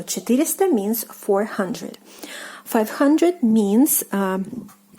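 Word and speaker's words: пятьсот: The stress falls on the o here.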